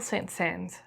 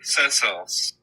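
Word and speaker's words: Saint-Saëns: Today's episode is The Swan by Camille Saint Sans. I'm sorry if I'm saying his name wrong. Actually, Camille Sans.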